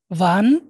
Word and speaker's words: wann: wohin, wohin, এই যে ডব্লিউটাকে আমরা ভি উচ্চারণ করতেছি, সবসময় ভি উচ্চারণ করবেন। আমার সাথে আরেকবার বলেন। ভাস, was, was, wann, wann, wer, wer, wer,